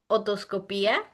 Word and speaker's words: otoscopia: So otoscopy um is pronounced otoscopia. Otoscopia.